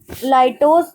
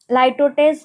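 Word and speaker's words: litotes: आज बढ़ते हैं और पढ़ते हैं लाइटोस कह लो, या कोई कोई कोई कोई कह देता है लाइटोटेस कह देता है। तो जो आप कंफर्ट हो प्रोनाउंस करने में वो प्रोनाउंस करो।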